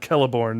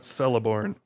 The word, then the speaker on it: Celeborn: Yeah, if you read his one of his appendices on pronunciations, he does talk about the hard C.